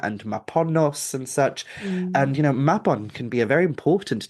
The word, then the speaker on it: Mabon: And it's like, no, we're just confused why you're pronouncing it the way that you're pronouncing it, when it's Mabon.